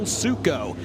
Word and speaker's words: Suco: my Iowa travels and I've heard his last name pronounced a million different ways. So shout out to Jason Fromelt and Jay Van who confirmed Cole Suco in the number 75 Josh Cain on your screen in the 3J.